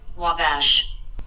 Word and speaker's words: Wabash: I found the pronunciation, so I'm gonna try to put this into the mic. Wabash.